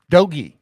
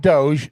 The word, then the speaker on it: DOGE: of the Doge guys dogy it's not Doge doge is crypto doy is the Department of Government hard G efficiency hard e dogy but doge is the